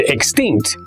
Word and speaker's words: extinct: The word extinct is also an adjective and has two syllables. Tell me if you can hear what syllable is stressed. Extinct. Yes, the second syllable.